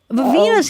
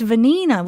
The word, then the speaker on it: Vanina: Vivina's here too. Vanina. Wait, I was saying it wrong. It's Vanina. Was I saying Vivina?